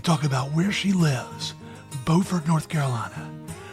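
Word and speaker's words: Beaufort: about where she lives bord North Carolina which looks the same but is not pronounced the same as Buford South Carolina here's our conversation the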